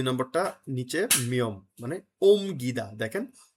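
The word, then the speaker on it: 옮기다: তারপর আছে কি দেখেন 2 নম্বরটা নিচে মিয়ম মানে ওম গিদা। দেখেন ও ইয়ং ওতে ও আছে, নিচে আছে রিয়ল আর মিয়ম, রিয়ল উচ্চারণ নাই, তার কি দাঁড়াচ্ছে ওম গিদা।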